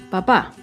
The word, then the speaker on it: papá: Con la segunda palabra, papá, tiene tilde, que indica que el acento está en la última sílaba, papá.